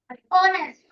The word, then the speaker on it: honest: Because this is silent. Okay, and see the pronunciation. Ah, it starts with a. A is a vowel. Honest. Honest. We don't say honest. We say honest.